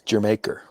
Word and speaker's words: Jamaica: It's pronounced like the country. It's Jamaica.